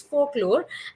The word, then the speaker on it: folklore: folklore and folklore uh let me also tell you the l is silent here so it is folklore and folklore also means